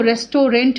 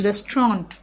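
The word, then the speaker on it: restaurant: वी गो टू रेस्टोरेंट रेस्टोरेंट लिखते हैं लेकिन इसको रेस्टोरेंट नहीं बोलते हैं इट्स रेस्टोरेंट ठीक है और टीवी साइलेंट है वी गो टू रेस्टोरेंट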